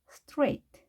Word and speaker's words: straight: 스트라이트로 읽을 수 있겠지만 I가 아닌 A라는 거 꼭 기억해 두시고요. stray. 그 다음에 GH는 발음이 되지 않는다는 거 기억해 두시기 바랍니다. 따라서 striped, striked 이렇게 읽는 것이 아니라 straight, straight 이렇게 똑바로 연속 직선을 의미하는 단어 straight는 발음을 주의해서 하셔야 되겠습니다.